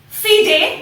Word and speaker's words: FIDE: FIDE, but it is spelled F-I-D-E.